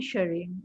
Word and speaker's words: Jigme: I'm sorry, I can't pronounce the name. Greeting from Bhutan. Jigme Jigme.